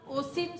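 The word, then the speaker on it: eosin: Wash it and place it इन a bigger contain ईसिन, इसको हम ओसिन solution, ई silent है, ओसिन solution बोलेंगे।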